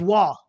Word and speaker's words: Roy: pronounce it Hill okay everybody says Patrick Roy but it's not Patrick Roy it's wall ex exactly but uh